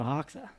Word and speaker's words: Hoxha: Let's welcome Joe Hawka.